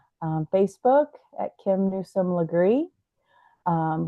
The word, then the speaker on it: Legree: Facebook at Kim Nome lree um lree is spelled l g re kind of like degree but lree and also my um